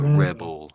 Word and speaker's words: rebel: So, it's more like bell, as in a sound of a bell clinging clanking clanking, maybe, or something.